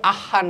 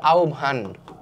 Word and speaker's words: আহ্বান: জানিয়েছেন এটার উচ্চারণ কি আহান না কিন্তু এটার উচ্চারণ কেউ আহান করিও না ঠিক আছে আমার অনেক স্টুডেন্ট বা হচ্ছে অনেক ভাই আপুরা এই ভুলটা করে এটার উচ্চারণ হচ্ছে আওভান আমি তোমাদেরকে একটু উচ্চারণটা